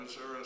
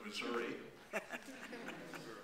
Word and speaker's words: Missouri: A Lieutenant JG on the USS Missouri, and I'm from Missouri, so I pronounce it that way instead of Missouri, but was called in